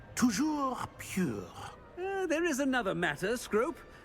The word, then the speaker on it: Toujours pure: And, of course, as Master knows, in French. Yes, of course. I order you to pronounce it for me. Oh, Master knows that Scrope's French is most pitiful. Oh, very well. Toujours pure.